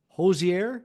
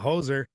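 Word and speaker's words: Hozier: And we will start with Hosier, because I think that's how you say it. Hosier, Hosier. not hoser.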